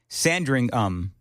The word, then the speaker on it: Sandringham: JT says, the estate is called Sandringham. The British rarely say ham in the names of places. Birmingham, for instance.